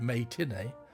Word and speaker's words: May Tinney: Viewing the censored version, its critic, May Tinney, a play on words and also being pronounced as matinee, wrote, quote, "Free Women, as it stands, is graphic and unpleasant enough.